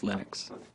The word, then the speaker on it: Linux: lonus and I really don't care how people pronounce my name but Linux is always Linux he developed a kernel and got it working